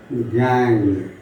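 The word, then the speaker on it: gangue: அது வந்து சிலர் ப்ரொனவுன்ஸ் பண்ணும்போது கேங்கு, நொங்கு அப்படிலாம் ப்ரொனவுன்ஸ் பண்ணுவாங்க. நோ, it's simply கேங். கேங்குன்னா நம்ம சொல்கிறோம்ல, அவன் கேங் லீடரா சொல்கிறோமா இல்லையா, த சேம் அக்சென்ட் தான்.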